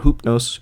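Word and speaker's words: Ὕπνος: Latin form and then the other is the original ancient Greek form uh they are referring to the exact same entity which is hypnos or hupnos who is the Greek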